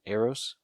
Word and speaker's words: Eros: macari and druid are visited by the eternal eros is that how you say his name arose yup yeah okay uh thanos's brother and his